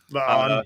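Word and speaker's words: La'an: Lan. Yeah. Lan rhymes with Khan.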